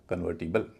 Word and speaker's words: convertible: Stress वाले syllable से पहले जो वोवल होता है वह हल्का होता है। इसीलिए यहाँ ओ का उच्चारण ओ न होकर अ होगा, बोला जाएगा कन्वर्टिबल।